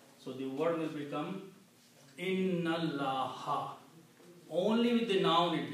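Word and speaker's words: إن الله: And then the second thing is that you do not pronounce this alif in between. Okay. So the word will be inna allaha.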